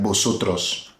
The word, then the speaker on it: vosotros: Now mind you, V in Spanish is pronounced like a B. So this is like vosotros.